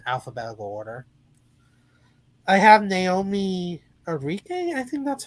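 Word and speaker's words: Ackie: I have Naomi Enrique. I think that's how you say her name. Aki. Aki.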